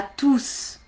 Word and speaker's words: tous: Tous, tout seul, on entend le S. Bonjour à tous. Ou bien bonjour tout le monde. Tous les élèves. Là, j'entends pas. Mais ici, il est tout seul. Tous.